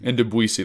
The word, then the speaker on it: Ndubisi: Ndubisi, that's right.